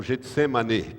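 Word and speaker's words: Getsêmane: A palavra Getsemane, ou Getsemane, que é a pronúncia certa, é com E no fim, Getsemane significa lagar de azeite.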